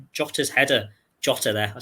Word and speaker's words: Jota: Jota there.